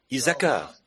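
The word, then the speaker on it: Issacar: la tribu d'isaka 12000 isakar ça doit être comme ça que ça se prononce 12000 la tribu de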